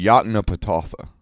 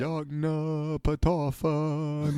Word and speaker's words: Yoknapatawpha: How do you pronounce it, by the way? I've read it a bunch of times. Yoknapatawpha.